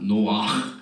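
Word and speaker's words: נֹחַ: 여기 꼭 거기를 발음이나 노악 이게 나와야 돼요.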